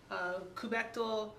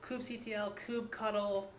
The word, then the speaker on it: kubectl: It's kubectl, kubectl, kubectl, kubectl. Is actually like the preferred. Yeah, that's the new canonical, but all are acceptable, we're told.